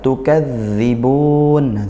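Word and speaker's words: تُكَذِّبُونَ: Tukadzibun, zalnya tasydid disempurnakan sesuai makhrajnya, pelafalannya, dan juga dia dialirkan suaranya ya, mengalir suara.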